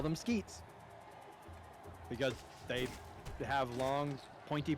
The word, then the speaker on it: Squit: was pronouncing them as squid. Because that's what it's spelled. Skew it, right? Folks highlighted that S-Q-U-I-T is just a part of the word mosquito. So now I call them skeets.